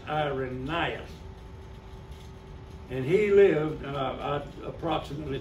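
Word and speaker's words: Irenaeus: that really you pronounced when youever you see an AE like that in Latin that's not AE that's I so it's IRAs and he lived uh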